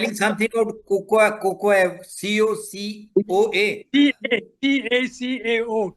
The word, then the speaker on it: cacao: C-A-C-A-O, cacao. It's pronounced Okay.